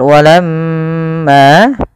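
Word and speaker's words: وَلَمَّا: Apabila ada mim berharakat tasydid, maka ia kita namakan dengan bacaan gunnah. Cara membacanya adalah ditahan suara nya sepanjang 2 harakat.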